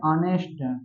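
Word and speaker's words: honest: लेकिन इसका उच्चारण क्या करते है? ऑनेस्ट आ से शुरू हो रहा है।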